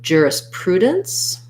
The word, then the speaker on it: jurisprudence: at juris prudence main stress in this is on the pru syllable i'm gonna rewrite that like pru um juris this jur at the beginning just has the er vowel so you might want to rewrite it like an er jur this letter s is